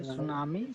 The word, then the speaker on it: tsunami: Okay, tsunami. So T is silent.